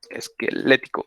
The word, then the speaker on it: esquelético: cualquiera de los dos esquelético a instalar lleva acento en la esquelético hasta millones encontramos pues